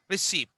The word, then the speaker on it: receipt: Receipt. There you find T is silent.